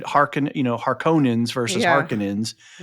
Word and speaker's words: Harkonnen: and the way we said Harkon You know, Harkonnens versus Harkonens. Right. So, we didn't have a pronunciation guide back in the you know, early aughts and late '80s and stuff, '90s.